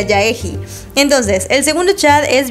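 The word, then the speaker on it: Jaehee: di cuenta de que su nombre creo que no se pronuncia gige y le empecé a decir ya egi Y prefiero yaji creo que así se pronuncia yaji Entonces el segundo chat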